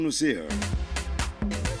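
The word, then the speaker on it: Noussair: If it were to be here, his first name would have been Nasir or Nasiru. So from where he's coming from, it's called Nusir.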